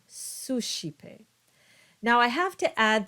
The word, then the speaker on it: suscipe: Finally, we have the sh sound when you have the C between an S and an E or an I. And so you get words like ascendit and suscipe.